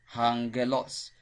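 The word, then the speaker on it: ἄγγελος: christos is translated christ angelos hungalos do you remember the gamma nasa so when we have gamma gamma you pronounce it as the word which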